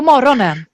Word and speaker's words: morgonen: På morgonen. På morgonen. På morgonen. Perfekt. Morgonen. På morgonen. Morgonen. Exactly. So even if it's written morgonen, we pronounce it morgonen.